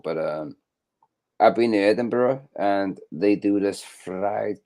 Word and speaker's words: Edinburgh: he said he's been to Edinburgh and Edinburgh Edinburgh that's how you pronounce it Edinburgh Edinburgh Edinburgh is a nice